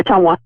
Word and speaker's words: Ottumwa: Yeah, Ottumwa.